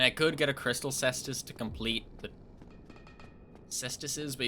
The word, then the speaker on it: cestus: But it's more fun with a cestus. And yes, that is how you pronounce it. I checked.